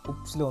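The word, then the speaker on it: Ypsilon: വൈ ഉപ്സിലോ എന്നറിയും, വൈക്ക് നമ്മൾ ഉപ്സിലോ എന്നാട്ടാ പറയാം. അവിടെയൊക്കെ വോൾ ഡിഫറെൻ്റ് ആണ്, ശരിക്കും ശ്രദ്ധിക്കാം. വൈ ഉപ്സിലോ.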